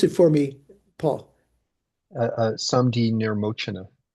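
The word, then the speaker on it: Saṃdhinirmocana: But mainly they rely on the Samdi Nimorchana, or pronounce it for me, Paul. Samdi Nirmochana. Nirmochana.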